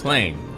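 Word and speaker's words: Cleigne: Claim. Okay, that's how it's pronounced again.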